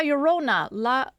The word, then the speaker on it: Llorona: La Llorona. Llorona. Llorona. Okay, so it's like a soft L.